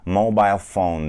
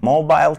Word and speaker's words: mobile: İngiltere'de insanlar daha çok mobile phone derler. Mobile phone. Mobile kelimesi Amerika'da da var ama mobile diye telaffuz ediliyor orada. İ'nin I sesi değil, I sesi. Mobile.